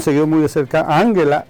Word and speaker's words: Angela: muy de cerca a Ángela de hecho lo pronuncian Angela Angela Merkel me parece que